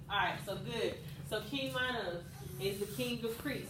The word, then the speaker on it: Minos: They always pronounce the I. So King Minos.